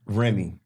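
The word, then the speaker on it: Rémy: of uh Remy Remy Remy the accent on the e pipe this is like I should extend in the e that's that Kansas City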